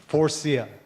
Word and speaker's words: Faurecia: First thing you got to do with Faurecia is you got to be able to pronounce Faurecia. So I want everybody in the room here, this is easy, Faurecia.